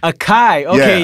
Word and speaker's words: Akai: is it pronounced akai or ikai akai akai okay the 2000 no no this is way before that this is the the mpc 60.